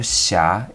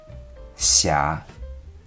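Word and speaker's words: 瑕: The pronunciation of xia is between C and she, xia.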